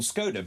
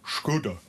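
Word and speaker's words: Škoda: Now, when I was a kid, it was called Scoda, but apparently it's not. It's called Scoda.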